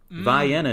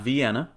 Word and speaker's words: Vienna: And Georgia also, like Illinois, has a Vienna. Vienna, not Vienna. And then Johnny gets down to Cairo.